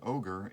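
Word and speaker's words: ohGr: a it's a fascinating album totally recommended um ogre at that point was questioning his whole Persona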